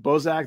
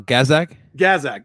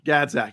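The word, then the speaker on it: Gazdag: very good chance probably through uh is it bozak the guy in the midfield um how do you pronounce his name uh gazzak gazzak yeah gadzak yeah i've that guy looks to me like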